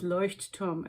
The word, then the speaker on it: Leuchtturm: Let's do a pronunciation check. Light tower in German is Leuchtturm, and there's a whole history behind why it's 1917 and why they're called that.